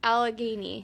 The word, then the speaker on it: Allegheny: what did I say Alchemy yeah but it's Allegheny Allegheny okay I'm probably gonna say don't [